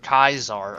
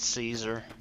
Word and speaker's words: Caesar: to him please or Kaiser I'm sorry I always said Caesar they say cars are in this but I say Caesar but it's how we pronounce it I guess so here is Kaiser's